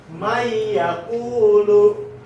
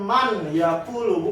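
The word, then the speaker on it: من يقول: Nah, cara bacanya itu dimasukkan dari man yang tadinya man yakulu jadi dimasukin mai. Jadi nunnya nggak dibaca, nun sukun ini nggak dibaca, jadinya mai yakulu, bukan man yakulu, bukan, tapi mai yakulu.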